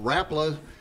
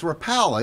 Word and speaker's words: Rapala: I got the message that you know, Rapala was going to have a saltwater type segment.